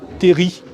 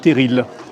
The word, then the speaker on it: terril: C'est aussi à ce moment-là que le mot terri rentre dans la presse et commence à mal se prononcer, terril. C'est également un mot picard. Mais on devrait prononcer sans prononcer le L.